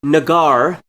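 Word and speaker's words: Negar: I looked it up it's pronounced nagar and it's a Persian for lover I'm confident saying that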